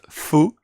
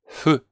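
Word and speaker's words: ふ: attention that this F, this fu, is not pronounced fu. Actually, that was part of my mistake. Sometimes I need to pay a lot of attention to the pronunciation. It's not fu, like as a Spanish guy, usually I'm like fu, and it's not fu, it's hu. So it's very slight, okay, like the H, almost voiceless.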